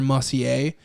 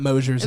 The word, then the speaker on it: Mosier: Mussier? yeah. That's a that would be- mispronunciation of Scott Mosier's name.